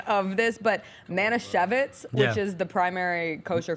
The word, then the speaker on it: Manischewitz: So I called my Jewish best friend to clarify the pronunciation of this, but Manischewitz, which is the primary kosher food company, they just sponsored him.